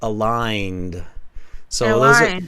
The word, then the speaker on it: aligned: silent calling yeah and here the g is silent aligned those are sometimes the